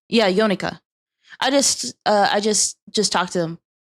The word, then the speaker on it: Yonaka: I just finished talking with wait, how do you pronounce his name? Yonaka? Yeah, Yonaka.